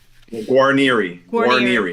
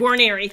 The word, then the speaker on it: Guarnieri: Guarnieri or Guarnieri? Or none? Guarnieri. Guarnieri. There you go.